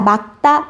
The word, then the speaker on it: 맑다: 자, 막다, 표준 발음 막다.